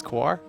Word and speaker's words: Kaor: how do you pronoun how does it's quar quar quar quar okay quar you know I I not sure if it is but I asked him if that was how you pronounce it and he said yes so I'll Trust he